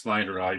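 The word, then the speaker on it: snyderi: we have the snide well however you pronounce pronounced Snyder eye but uh the uh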